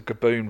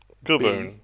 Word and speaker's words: Gaboon: snake um is a kaboon viper. A boom. A kaboon viper. How do you say that? Kaboon. How do you spell that? G A Gaboon.